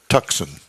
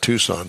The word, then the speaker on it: Tucson: Cruz and the Hyundai tuxen oh boy I think they pronounced that Tucson but I like tuxen well it kind of